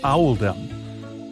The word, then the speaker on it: Oldham: This choice was made to reflect the pronunciation of Oldham in the local accent, which is Owldom.